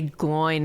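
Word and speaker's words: Glóin: I'd just say Gloin, man. I say Gloin too. Gloin it Gloin? is. Like groin? Oh Yeah, like no, Gloin, Ontario.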